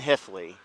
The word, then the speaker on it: Hueftle: So my name is Hifley, but it's a German name, Hifley, so it's spelled Hueftle, so nobody ever could say Hifley.